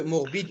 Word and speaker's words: morbides: Parce que morbide aussi, il y a ES de pluriel. Il faut dire morbide. Et ici aussi, ça va nous donner 2 syllabes. Non, ils ne prononcent pas.